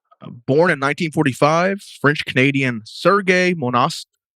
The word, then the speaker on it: Monast: Born in 1945, French-Canadian Sergei Monast, I think so you pronounce his name, Monast, Monast. You were very confident about it, so I'm going to believe you. Sergei Monast. Sergei Monast. Monast, yeah. Monast. Okay. Monast, maybe.